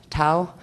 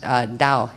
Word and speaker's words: Tao: 4 is called the Tao. I believe it's pronounced Dao here, but they do say Tao, T-A-O.